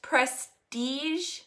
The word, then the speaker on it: Prestige: Pronounced prestige, like the word prestige.